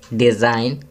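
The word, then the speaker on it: design: Ninth, डिज़ाइन, जी silent है।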